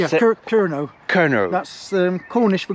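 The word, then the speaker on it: Kernow: Kerno.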